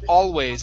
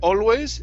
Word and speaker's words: always: Okay, let's try the position of the tongue with always. Instead of always, it's all. Always.